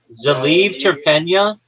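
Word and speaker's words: Zaliv Terpeniya: Hold on, you're not saying it correctly. Zaliv terpenia. Z-A-L-I-E or L-I-V, Zaliv Terpenia, Terp, P-E-N-I-Y-A.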